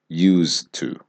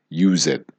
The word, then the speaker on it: used to: Used to. Okay? So even though there is an ed, we are not pronouncing it like use it.